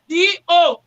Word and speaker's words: Ado: That word, Edo, was the only way our forefathers can pronounce it. But what they wanted to pronounce was A-D-O, Ado.